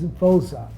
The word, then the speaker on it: Voza: My name is Voza. That's how they pronounce it, like Voza, Voza.